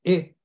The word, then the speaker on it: et: ETって書いて「えってフランス語は末尾の死因は発音しませんのでえとだけ読むんですが何々絵